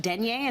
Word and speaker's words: denier: When it's this much texture, this much denier, is that how you say it? Yes, exactly.